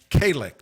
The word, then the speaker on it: Calic: Tom Trento here with Kalik. That's the correct pronunciation, right? That is correct.